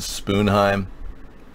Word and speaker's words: Sponheim: Sponheim is German. Some people pronounce it Spoonheim. The Norwegians do.